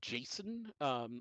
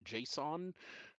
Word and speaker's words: JSON: Um, Usually sort of summed up with the acronym JSON, uh, pronounced by many as Jason, although others pronounce it JSON.